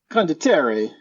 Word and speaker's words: Condottiere: And that game is Condottiere, or however you pronounce it. Yeah, so, you speak Spanish though, right? Well, it's Italian. Is that Spanish? Is it Spanish?